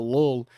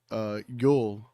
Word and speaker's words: Llull: I was calling Sergio Llull instead of Sergio Yul. I think that's how you say it.